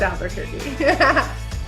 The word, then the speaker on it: Albuquerque: They're gonna think that we actually think that's how you say it. Oh. we know it's Albuquerque.